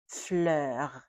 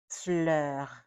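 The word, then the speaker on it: fleur: The first one is flur. Flur. That R at the end has to be pronounced. It's not a soft R. It's a strong R.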